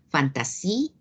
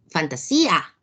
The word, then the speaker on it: fantasía: palabra de fantasía ayuda si fuera una palabra aguda la mayor fuerza de voz estaría gran y diríamos fantasy fantasía como pronunciamos esa palabra donde recae la mayor fuerza de voz efectivamente se trata de una palabra grave que tiene un gato acentuar porque la mayor fuerza de voz recae en la y fanta sí